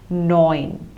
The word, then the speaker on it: neun: Moving on to 9, it is pronounced as neun. So the EU you see takes the pronunciation of OI, like in English word oil or ointment. So same way it is neun.